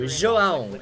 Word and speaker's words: João: João. It's like pão.